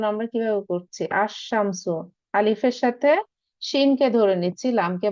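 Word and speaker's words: الشمس: এখানে একটু খেয়াল করেন এখানে কিন্তু উচ্চারণ আমরা কিভাবে করছি আশশামসু আলিফের সাথেশিমকে ধরে নিচ্ছি লামকে বাদ দিচ্ছি আশশামসু আবার এখানে হচ্ছে আস সদরু মানেযে চেস্ট চেস্ট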